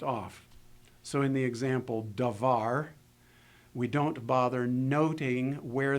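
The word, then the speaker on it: דָּבָר: So in the example davar, we don't bother noting where the accent lies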